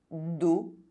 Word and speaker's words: dos: O is pronounced O when followed by a silent consonant at the end of words. Do.